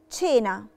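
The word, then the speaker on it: cena: محتاجاكم انتم تقراوها معي شينا شينا شينا نطقناها علشان جي وراها الفوكالي ايه نطقناهاش كينا شينا يعني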